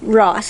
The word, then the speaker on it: Roess: at the mike ross i think it's ross it's spelled r-o-e-s-s but anyways we're at the